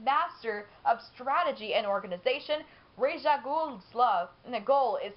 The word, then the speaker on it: Ra's al Ghul: Who, for some reason in the beginning, I used to pronounce it as Ra's al Ghul, but it's Ra's al Ghul.